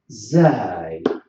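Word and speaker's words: ز: And we've got the third one is zai. So these letters, they should be pronounced. We have to push the tip of the tongue to the bottom of our lower front teeth.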